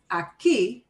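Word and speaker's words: aquí: see in blue in but the way we pronounce that word aki the way we pronounce it breaks the rule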